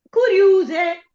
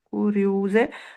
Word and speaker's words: curiuse: Curiuse, scrivo Mm. meglio, curiuse, metto la dieresi sulla U. Sì? Prima di Cu- tutto mi dica quale U, perché curiu- Sulla seconda. allora io dovrei dire curiose. Ah. Sì. Invece di curiose. Ok, curiu, l'accento acuto sempre sulla U.